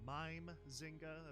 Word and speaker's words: Mimezinga: pronouncing the creatives wrong I believe it's mime Zinga apparently didn't know how to pronounce mime I do think I